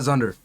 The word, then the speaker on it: Xundr: Shout out Zunder. Or, I don't know how to pronounce it. Yeah, Zunder, that's how I pronounce it.